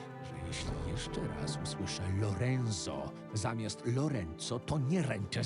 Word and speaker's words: Lorenzo: I've been saying Lorenzo this whole time because that's a common name that I hear in the United States, and it's pronounced Lorenzo over here. But I guess it's actually pronounced Lorenzo as opposed to Lorenzo.